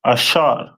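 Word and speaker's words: אשר: Colombia to Uruguay uh and their name is pronounced in Hebrew as asher a which ashar which means happy and the symbol is a royal dainties.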